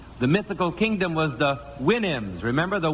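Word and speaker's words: Houyhnhnm: mythical kingdom was the winam remember the winam to sound to pronounce supposed to pronounce it like you do a horse's Winnie I think okay here's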